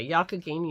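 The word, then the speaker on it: Youghiogheny: Kay helped me because I had no idea how to pronounce yakagini yarn y-o-u-g-h-i-o-g-h-e-n-y and I struggled for 10 minutes on that podcast trying to figure out and I never got it right and she told me how to pronounce it because she grew up in that area yakagini is apparently a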